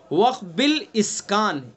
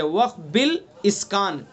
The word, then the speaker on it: وقف بالاسکان: ہاں وہ آپ تلفظ کریں گے تو صحیح تلفظ ہوگا، ورنہ پھر اس میں وہ گڑبڑی ہو جاتی ہے. وقف بالاسکان یہ صحیح لفظ ہے، وقف بالاسکان.